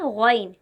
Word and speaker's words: غ: حرف ہے غین، غین۔ یہ حرف بھی پر پڑھا جاتا ہے، یعنی موٹی آواز میں پڑھا جاتا ہے۔ اس کا تلفظ حلق سے نکلنے والا موٹا حرف ہے۔ جب ہم غین کو ادا کریں گے تو حلق سے ادا